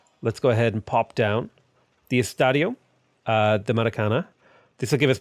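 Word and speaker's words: Maracanã: Maracana, not ña. Ña is like a Spanish thing. I think this is Portuguese.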